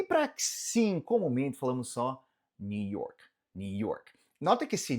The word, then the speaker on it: New York: Nota que esse New York, que você pode falar mais marcado New York, ele vai ter umas variações regionais, principalmente dependendo do sotaque, né? Quem é um nova-iorquino pode dar uma variação, principalmente nesse York, em vez de falar esse R tão marcado, eles costumam falar York, York, New York, New York. Pode ser que você escute isso. Isso é uma questão mais de sotaque. De forma geral, só falar um New York, New York.